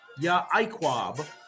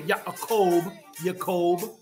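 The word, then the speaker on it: יעקב: And some people say Yacob, but we pronounce it in Paleo Hebrew, which is Yaquab. Now, there's some who pronounce the Ayan character, the E, so they'll say Yaquab.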